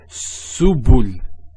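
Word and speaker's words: سبل: So to pronounce this has a S sound. So su, bu, and this is the lam, like the letter L. So subul, subul.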